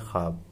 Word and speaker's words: ख्वाब: से ख्वाब पढ़ते हैं लेकिन ये सही है ख्वाब, क्योंकि जब भी किसी हर्फ से पहले वाव वाव किसी हर्फ से पहले आ जाता है तो वो खा उसमें वाव का साउंड साइलेंट रहता है, खामोश रहती है आवाज़।